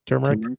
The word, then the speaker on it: turmeric: and then a little turmer turmeric how do you say that turmeric turmeric there you go turmeric that's what bid's